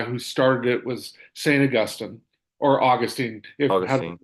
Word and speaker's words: Augustine: The guy who started it was Saint Augustine or Augustine, if Augustine. how you pronounce it. Augustine's how you're supposed to pronounce it, but Depending on whether you're talking about the saint or the location in Florida, right?